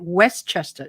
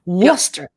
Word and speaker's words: Worcester: um west west how do you say that westchester right west worcester worcester sorry worcester massachusetts because i'm from westminster no we're